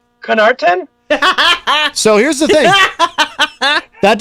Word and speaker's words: Connarton: So it's pronounced Connarton, but when I was in high school, so